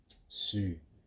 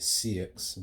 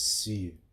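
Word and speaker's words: Sioux: Um, Sue, I used to call it CX, but then when I actually searched up how to pronounce it, it's Sue.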